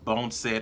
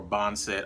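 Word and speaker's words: boneset: guys can see that it's spelled b o n e s e t bone said or bond said i'm country so we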